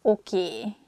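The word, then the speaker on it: oké: word comes from english probably it's easier for hungarian speakers to pronunciate it that way so we just say a sound a at the end so it sounds okie instead of okay hosnal to use me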